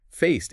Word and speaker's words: faced: Faced ends with a T sound.